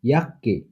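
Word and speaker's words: Jacke: সেকে, কয়ের মতো, ইয়াক্কে, ইয়াক্কে মানে জ্যাকেট। ডেঠে, টয়ের মতো উচ্চারণ হয়, যেমন স্ট্যাট, স্ট্যাট শহর।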